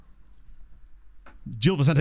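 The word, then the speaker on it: Gil Vicente: Jill for some reason I thought it was Hil but I'm guessing that's more like if it was Spanish right Jil V Sant is even easier I didn't realize it was a hard G or like a sort of slightly soft G the more we learn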